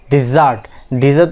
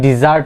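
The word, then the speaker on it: dessert: ডিজার্ট অর্থ কি? খাবার দাবারের পরে যে আমরা যে মিষ্টি মুখ করি, যে তো খাবারের মেনুতে কি ডিজার্ট আছে, ঠিক আছে? তো এটা হচ্ছে কি? সেই ডিজার্ট, নট ডেজার্ট। খোট।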